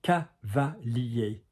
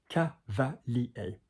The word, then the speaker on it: cavalier: But again, notice the pronunciation, cavalier, cavalier.